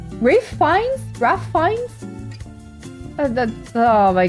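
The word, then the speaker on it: Ralph Fiennes: I guess there's people like Ralph Beans, pronounced Raph Fines, Rafe Rafe Fines, Raph Fines.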